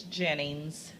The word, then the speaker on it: Jennings: you too so Gina um how do you pronounce your last name it's Jennings Jennings okay so how do you spell that